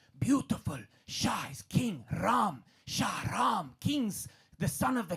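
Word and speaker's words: Shahram: So, Sham is traditionally meant to be spelled with an extra H. It's meant to be S H A H R A M. Shaham.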